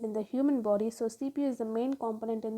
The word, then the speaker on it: CPU: CPU pronounced as separate letters. So we cannot call something like CPU. We can call with an individual words like CPU, right?